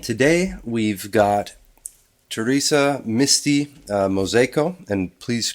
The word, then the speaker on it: Mozejko: And today we've got Teresa Misty Mosco and please correct me if I'm pronouncing that wrong.